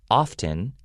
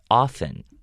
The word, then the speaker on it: often: of times we do kind of ignore that t sound so instead of often we go often we make it sound like o-f-f-e-n and also we hear